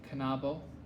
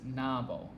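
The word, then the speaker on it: knabo: longa is pronounced long k and n are pronounced and kanabo by the way there is an app on the android marketplace that i it's called drops and it keeps pronouncing kanabo as nabo and that just because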